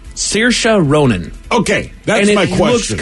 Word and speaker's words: Saoirse: Yeah, you see this is the same way. It's Saoirse.